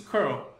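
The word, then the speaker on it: cURL: chamada show se você se você escreve isso com cê URL seria por mim né Mas em inglês pronuncia esse carro e aí nesse caso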